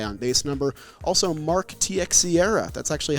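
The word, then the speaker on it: Teixeira: to that high on base number also Mark TX Sierra that's actually how you pronounce Mark to share his name truthfully and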